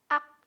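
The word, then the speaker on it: 악: ak sama khak nah di ak di sini teman-teman bisa lihat huruf konsonan yang pertama warna orange terus huruf vokalnya terus huruf konsonan yang kedua jadinya ak dibacanya Karena tadi I yang enggak berbunyi ya Sekali lagi terus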